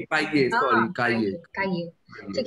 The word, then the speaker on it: cahier: काहिए फिर ह साउंड नहीं एग्जिस्ट करती है फ्रेंच. काहिए सॉरी काहिए.